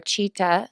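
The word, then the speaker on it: चित्त: And Sita, or Chita, as it's pronounced in Sanskrit, is your conscience.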